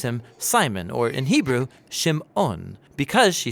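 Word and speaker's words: שמעון: and she names him Simon or in Hebrew Shimon because she says the Lord has shamad that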